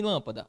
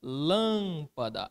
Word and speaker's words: lâmpada: Olha aqui em lâmpada, lâmpada. Aqui está a minha sílaba tônica.